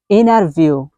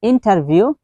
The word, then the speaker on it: interview: So এখন আমরা গুরুত্বপূর্ণ একটি ওয়ার্ড প্রনাউন্সিয়েশন করব, সেটা হচ্ছে আমরা অনেক সময় বলি ইন্টারভিউ। সো ইন্টারভিউ, এটার সঠিক প্রনাউন্সিয়েশন হচ্ছে আমেরিকান স্টাইলে যদি আপনি বলতে চান তাহলে আপনাকে বলতে হবে ইনারভিউ। ইনারভিউ, ইটস নট ইন্টারভিউ, ইটস ইনারভিউ। বাট এটার বেসিক প্রনাউন্সিয়েশন কিন্তু হচ্ছে ইন্টারভিউ।